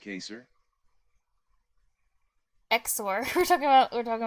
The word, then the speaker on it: XOR: cuz I I said I said zor cuz it's like more fun and easy to pronounce and more efficient most importantly more efficient cuz the e x is like a it's a consonant cluster that's why consonant clusters are less fun CU it's sensation